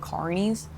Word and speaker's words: Carney's: Well, you got to say it like an American. You're going to say Carney's. Oh, that's right, because there's another place. There's a place called Connie's. Connie's. But the way that they say Connie's sounds like how we say Carney's.